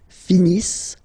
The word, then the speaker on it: finissent: So remember, as usual, when we've got the verbs E-N-T not pronounced. Ils finissent.